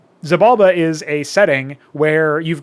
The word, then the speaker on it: Xibalba: And yes, it's deliberately pronounced that way. Xibalba is a setting where you've got all these different regencies, which are our stand-in term for races.